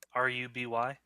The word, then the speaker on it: RWBY: RUBY?